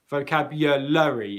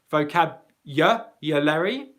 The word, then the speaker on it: vocabulary: So in the word vocabulary, what you might be able to hear is in that, after the L sound, vocabulary, there's a schwa sound, which is an unstressed sound.